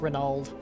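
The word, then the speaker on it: Reynauld: it looks like oh Reynold had something to say but I didn't see it or renald they use pronounced renald um there's a lot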